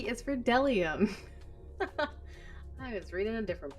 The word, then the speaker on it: bdellium: read b is for dellium i was reading a different book we doubt anyone knows what dellium is but it's the only it's the only word silly enough to begin with a silent b crazy c is for